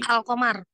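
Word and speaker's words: القمر: apa Bu Ibu Yanti alqamar alqamar alqamar lamnya dibaca tidak dibaca Dibaca jelas tidak jelas Nah maka itu yang disebut dengan izhar Jadi kalau eh idgham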